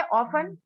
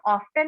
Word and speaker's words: often: ठीक है, नेक्स्ट है ऑफन, इसको हम ऑफ्टन नहीं बोलते, यहाँ पे टी की साउंड नहीं आ रही है, ऑफन बोलते हैं, OFTEN तो है यहाँ